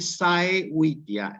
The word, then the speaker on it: saevitia: Para que ustedes pronuncien propiamente saevitia, laetitia, saevitia, laetitia, tristitia. Fíjense, como está escrito, se pronuncia saevitia, laetitia, tristitia.